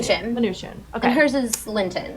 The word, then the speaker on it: Mnuchin: Mnuchin.